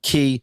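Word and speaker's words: cay: Everybody's saying key. Even though they're clearly made to rhyme with their taglines, perfect day, Coco K, relax away, half moon K, but Tony and Doug the same.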